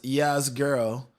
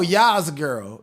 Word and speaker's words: Yah's girl: Am I pron And my name is pronounced Yah's girl like the most high. Yah. Oh, Yah's girl. Yah's girl. Okay. Yah's girl. Like Yahweh.